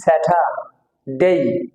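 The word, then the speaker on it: Saturday: এটা সাইলেন্ট হয় উচ্চারণ হয় না সুতরাং এটা উচ্চারণ হবে সটি হবে স্যাটার ডেই এই স্যাটারডে শনিবার সানডে এখানে সান দৈতন নিচে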